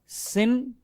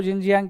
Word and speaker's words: Xinjiang: So you are free to pronounce it as Xinjiang. But if you want to be close to how natives would call it, Xinjiang.